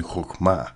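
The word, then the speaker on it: חכמה: to increase in wisdom in hmma as it is pronounced in Hebrew.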